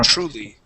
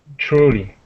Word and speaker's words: truly: truly all right now the trick with words that have a TR in them truly Yeah we actually pronounce that more like a c CH so TR true truly truly that's it nice job